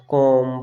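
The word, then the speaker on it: calm: ठीक है, अगर आपको एम से पहले अगर एल दिख रहा है वहाँ पर ही हम एल को साइलेंट रखेंगे, जैसे कॉम, पास, एंड, बॉम।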